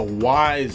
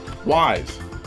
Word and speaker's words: Ys: Well, it's a great series, Joe, that's for sure, but I'm not sure you're pronouncing it correctly. I mean, it's... Come on, dude, it's Ys. How are you supposed to pronounce that?